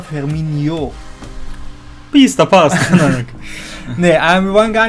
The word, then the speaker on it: Firmino: Also Firmino. Wie bei Ronaldinho, dieses INHO. Skilaktinho. Genau, weil es nervt ja, wie Kevin die Namen ausspricht manchmal. Es geht. Es heißt nämlich nicht Firmino, sondern Firmino.